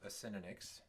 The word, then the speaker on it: Acinonyx: So that's how it's pronounced, Acinonyx.